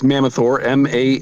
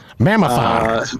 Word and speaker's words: Mammothor: It's Mammothor, Mammothor. It's probably not the best name, actually, in retrospect, because nobody can say it or spell it. Mammothor. But it's Mammoth and then OR at the end.